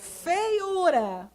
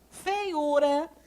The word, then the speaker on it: feiura: Feiura. Feiura. A sílaba tônica é esse U aqui, né?